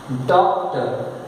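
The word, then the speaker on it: doctor: आर कहीं आए उसके जस्ट पहले वावेल लेटर आए तो याद रखना आर इज एब्सोल्युटली साइलेंट। लिखते हैं, पढ़ते नहीं। हम पढ़ते हैं, यहां पे 2 वावेल हैं,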